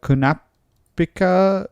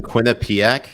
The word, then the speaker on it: Quinnipiac: came out today, the Kunapika University poll, it came out saying, hold on. Say that one more time, Jay. Kunasipa. How do you pronounce it? I don't even know. You mean Quinnipiac?